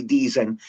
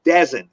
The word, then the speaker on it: Deezen: I was born Dezen, Edward Harry Deezen, but people would see it and they always go Dezen. It's but it's pronounced Deezen, but it looks like Dezen.